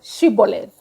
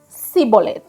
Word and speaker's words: shibboleth: said no they would say say the word shibboleth the men of Ephraim could not say the word correctly they pronounce the word as symbolid they were shrabbas thank you so anyway let